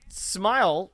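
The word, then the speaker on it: Smyl: Stan Smile, which the way his name pronounced makes him kind of sound like he'd be a Spider-Man villain.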